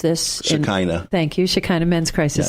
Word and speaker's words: Shekinah: I can't pronounce this. Shekinah.